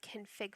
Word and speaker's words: conf: see this as a dot cnf dot conf which is usually pronounced conf or a dot ini